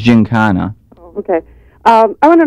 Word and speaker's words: Giancana: but out of being out of chicago i have that hard kind of a sound so it's ginkana okay um i want